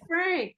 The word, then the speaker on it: Phranc: Hi, I'm Frank with a ph and a hard C.